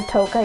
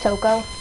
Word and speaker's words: Toko: I like how we always call her Toka, even though it's Toko.